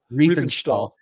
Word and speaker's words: Riefenstahl: Riefenstahl.